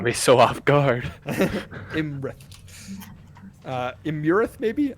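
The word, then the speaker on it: Iymrith: Imurith, maybe? I'm going to pronounce it Imrith because that's how King Hecaton pronounces it.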